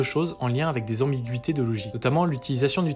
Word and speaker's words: ambiguïté: Par exemple, le mot ambiguïté, typiquement. Si on met pas le tréma, ça ferait ambiguïté, vu qu'on suit les règles de français avec GUI.